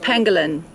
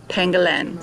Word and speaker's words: pangolin: to my attention that it's pronounced Pangolin not pangalan so very sorry for